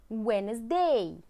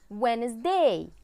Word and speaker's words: Wednesday: Wednesday. Wednesday.